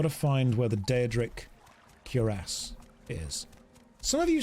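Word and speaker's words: cuirass: way we've got to find where the deadric curas is some of you say that I'm saying that wrong they're like it's not curas it's quas or something like that I think you'll find it's curas cure ass that's how it's pronounced don't tell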